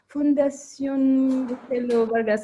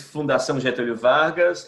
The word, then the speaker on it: Fundação Getúlio Vargas: from Brazil, from the Fundación Marcelo Vargas. I'm sure I'm pronouncing it. I can say it. I can say it in Portuguese and in English. In Portuguese, it's Fundação Getúlio Vargas, and it means Getúlio Vargas Foundation.